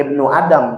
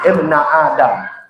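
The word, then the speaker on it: ابنَ آدم: Jadi bukan ibnu Adam, bacanya ibna Adam.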